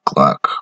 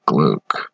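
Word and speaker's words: Glück: ken pronounces the click i thought it was gluck or gluck i found it interesting there was no umlaut over the u there were a lot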